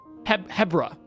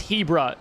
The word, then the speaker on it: Hebra: It's Hebra. Why Hebra? I guess it's like zebra. But no, that's what you pronounce it, zebra.